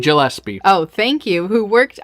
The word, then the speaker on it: Gillespie: ellipse II get guys you say his name Gillespie oh thank you who worked on the Academy